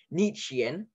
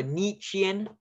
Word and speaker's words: Nietzschean: So for Nietzschean is the I-E, the sh, Nietzsche, T-Z for the ts, like Nietzschean, and then you have the S-C-H for the sh, and the Ian at the ending.